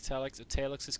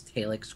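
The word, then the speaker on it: Talex: By the way, I would also like to say that I love casting with Europeans because you guys pronounce Talix correctly. Because in North America, they're like, it's Talix, right?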